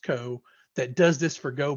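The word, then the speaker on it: ko: And since we write a lot of things in Go, they have a project called K-O, I think it's pronounced Co, that does this for Go binaries.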